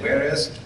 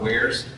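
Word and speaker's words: warez: for cracking or or I used to pronounce it in my head as where is but I guess it's probably where's anyway hiring software lots of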